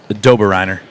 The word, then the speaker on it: Doberreiner: Lucy Hobbs told me it was pronounced Doberreiner.